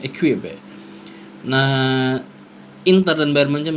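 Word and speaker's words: Équipe: Menurut berita dari Prancis, L'Equipe, gimana sih bacanya? Equipe.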